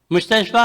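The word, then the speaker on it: مستشفى: یہ فا پہ ہے۔ آخری حرف کلمہ دو نقطوں کے بغیر والا یا ہے، یہ یا ہے، اس کا تلفظ الف کریں گے، اسے الف مقصورہ چھوٹا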